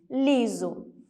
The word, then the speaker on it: liso: ok e por último a palavra liso eu tenho aqui a vogal e EA vogal ó como essa está no meio das duas ele assume o som de z liso bom então nós já